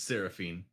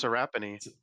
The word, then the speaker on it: Seraphine: It's Yeah. It's Seraphine. Seraphine. Oh, that's a. I think Yep. it's Serapini. No, it's Seraphine.